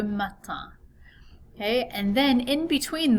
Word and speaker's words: matin: Okay, so notice another nasal vowel sound at the end of this word, le matin.